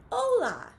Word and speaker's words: hola: English language says right so you might think that this would be Pola but it's not and how we know that is because we look at the pronunciation right next to it where it says oh la and so we know that we are gonna pronounce this word hola okay friends well I